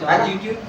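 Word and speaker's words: longitude: क्या होती है, लॉन्जिट्यूड, लॉन्जिट्यूड नहीं, इसमें क्या होता है, LONGTI ये रहता है, इसको हाँ यहाँ टी साइलेंट कर दो, लॉन्जिट्यूड।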